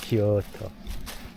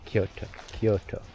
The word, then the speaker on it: Kyoto: It's like Kyoto or something like that is the actual pronunciation because there's a U in there. It's Kyo, and then it's the U sound, the U, and then the to, Kyoto.